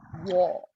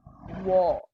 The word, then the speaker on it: war: I heard the word war, very specific, it's war. Okay, war. So it's very important that you open your jaw.